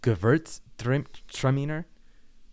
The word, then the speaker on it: Gewürztraminer: It is Gewürztraminer. Gewürz. Gewurz. Gewürz. Gewürztraminer. Gewürz. You have to pronounce the R a little bit better, but I guess that's fine.